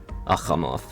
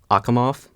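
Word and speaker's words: Achamoth: And I'm pretty sure it's a voiceless velar fricative. It's just so fun to pronounce. Like, I could pronounce it the English way by like hardening the chi to a k.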